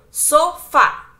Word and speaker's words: sofá: Exemplo, café, sofá. Então, sofá. Fá é a mais forte, é a última, então nós temos uma oxítona.